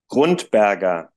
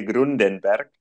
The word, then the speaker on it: Grundberger: pronuncio bien tu apellido cómo lo pronunciamos en alemán grundberg los latinos tienen una tendencia de ponerle grunenberg Pero tú lo hiciste bien dijiste grundberg eso eso se te